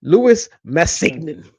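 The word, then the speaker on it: Louis Massignon: Louie Men or perhaps in the American accent of it all, Lewis Masign. But I think Louie Masenol sounds better.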